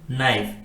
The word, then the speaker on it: knife: एन आता है तो उस वर्ड में के साइलेंट होता है और उसका प्रोनाउंसिएशन हम एन से करते हैं, जैसे कि KNOW नो,